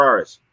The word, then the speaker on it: Arris: Is it Arris or Arris? It's Arris. You're saying it right.